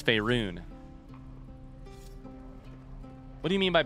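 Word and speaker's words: Faerûn: on matters of this Fey run it's faerun I hate to be that guy I hate to be the linguist in the group but I am a bard pronunciation is my vocation it's fairun what do you mean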